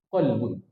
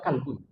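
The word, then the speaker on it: قلب: Ee kita membaca qolbun hati tapi dibaca kalbun. Ah jauh bedanya. Maknanya adalah anjing.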